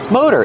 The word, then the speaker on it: motor: pronounce the word motor motor in American English we pronounce it with the long o Mo the t is a fast D mode motor motor they're called